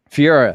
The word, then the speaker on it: Ferreira: uh is it uh is it fourier is how he pronounced his last name fiora okay ferreira yeah john ferreira